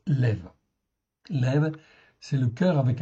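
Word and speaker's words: לב: OK, donc vous pouvez en fin de compte dire lève ou leb comme vous voulez mais en réalité ça se prononce lev.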